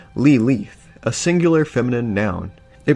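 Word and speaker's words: לילית: of the modern day the word Lilith comes from an ancient Hebrew word originally pronounced lee leaf a singular feminine noun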